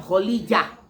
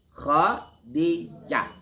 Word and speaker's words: Khadijah: Jangan Kholijah. Ini banyak orang bacanya Kholijah. Bukan. Salah itu. Ada lagi Kholisah. Salah itu. Makin salah. Ya. Tapi Khadijah. Lalu siapa lagi?